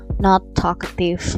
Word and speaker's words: Nath'talkative: aku mau kasih nama not aktif ya tulisannya natha atau aktif tapi dibacanya not kayak typo gitu loh jadi notnya dibaca yang kayak negatif ya oke udahlah Lama deh